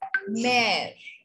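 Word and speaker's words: mère: Suppose there is a word M-E-R-E, which means mother. We pronounce it as mare.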